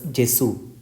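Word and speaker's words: Gesù: It contains the English letters G and E, so this word is pronounced as Jesu.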